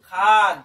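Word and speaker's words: can't: আরো ব্যতিক্রম আছে, যেমন আমরা এখানে একটু দেখি, ক্যানের সঙ্গে নট যুক্ত করলে উচ্চারণ কি হয় জানো? খান্ট হয়। কি হয়? খান্ট। শুদ্ধ উচ্চারণ হয় খান্ট, বুঝছো?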